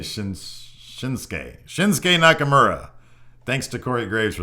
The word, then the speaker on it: Shinsuke Nakamura: I've been pronouncing shinuk Nakamura incorrectly apparently it's pronounced shinsa Shin what did he say Shin shinsuke shinsuke Nakamura thanks to Cory Graves for that one because